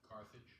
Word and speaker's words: Carthage: uh the city of Cartage is it correct pronunciation Carthage Carthage Carthage Carthage okay thank you uh the